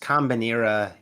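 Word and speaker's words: Kombinera: do you have uh it's pronounced combinera it's a Swedish word for combine um and believe it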